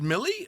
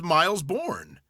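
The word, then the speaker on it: Mille Bornes: so again I is it really pronounced Millie I thought it was Miles Bourn is it a racing game yes it's Millie Millie be miles like you go miles no that's not how it's pronounced that's probably what it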